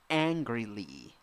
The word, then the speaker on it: angrily: Next, 7 letters, 7 sounds, 3 syllables. The first syllable is the stressed syllable. Eh, eh. You have to laugh there. Then you have ee, angrily, angrily. Nice. N. Yes, N plus G together, merged into one sound.